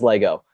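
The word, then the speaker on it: Lagow: got Richard Lego Lego I don't quite know how to pronounce his name um but it's la gowa think it's Lego so josh is gonna let me know yeah Lego ok it is Lego um he's bigger than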